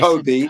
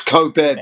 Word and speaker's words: Kobe: It's not co It's not Kobe. It's coo pronunciation.